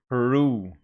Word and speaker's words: Peru: you that the stress falls on the second syllable making it per Peru and here between the